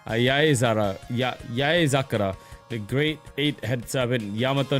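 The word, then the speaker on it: 八重桜: When the cherry blossoms pile up, it's Yaezakura. The great 8-headed serpent, Yamato no Orochi. It really is pronounced, yeah, whenever it means many.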